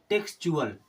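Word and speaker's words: textual: एल लग जाए तब ये क्या बन जाएगा टेक्चुअल क्या बन जाएगा टेक्सचरल टेक्स चुअल अभी जब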